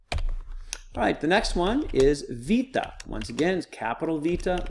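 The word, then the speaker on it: βήτα: academic pronunciation says Alpha Beta Gamma Delta Epsilon modern is alpha v Tehama felt the epsilon so this is vita looks like a bee but has a V sound so it's vita the next here is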